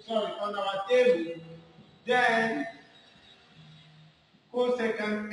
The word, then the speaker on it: cosecant: no sun all right so this should be pronounced as cosecant very good so let's look at the graph